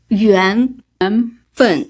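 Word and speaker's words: 缘分: Yuan Fen.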